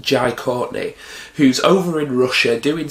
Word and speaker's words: Jai Courtney: Now, the plot of number 5 basically follows John McClane's son, played by, I believe his name's pronounced Jai Courtney, who's over in Russia doing some spy shit,